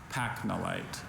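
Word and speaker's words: pachnolite: Pacnolite. Pacnolite. Are there any alternate pronunciations?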